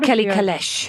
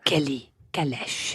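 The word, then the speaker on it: Kelly Calèche: It's called Kelly Kalesh. Oh, yes. Yeah. Kelly Kalesh. Okay, Beatrice. That's exactly how they say it.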